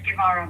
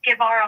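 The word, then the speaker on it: Guevara: My last name is Gavaro. Ma'am, how do you spell it?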